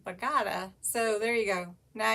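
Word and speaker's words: Bogata: um bagada texas and i was calling it bogota and uh somebody that actually lives there commented says bagata so there you go now you know in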